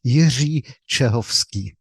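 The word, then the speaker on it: Jiří Čehovský: know I butchered it how would you say your name in check just so we can hear it correctly so my name is Yi chovsky that's beautiful because I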